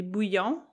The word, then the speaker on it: bouillon: And yeah, so bouillon in French, if you were to pronounce it the French way, would be bouillon.